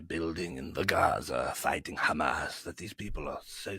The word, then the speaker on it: Hamas: Well, Ollie, first of all, it's pronounced Hamas.